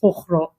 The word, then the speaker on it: Fugro: and you do have that the G, which is basically the way that Dutch pronounce the G, is Fugro.